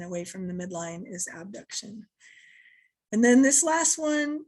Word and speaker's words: abduction: When they come out to the side is abduction, abduction. And when they come back towards the center, back towards the body is adduction, like adding to the midline, or AB, abduct, to take away.